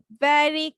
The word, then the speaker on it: very: ভেরি মানে ভিটাকে উচ্চারণ করেছো, ইটস ভি, ভি, ভেরি cold, ঠিক আছে?